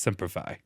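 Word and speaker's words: Semper Fi: or die oah I love you cuz it's pronounced seify seify yeah that's what I said you said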